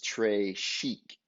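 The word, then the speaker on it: très chic: chic or tres chic you say it like this tray chic it means very fancy and the gravy is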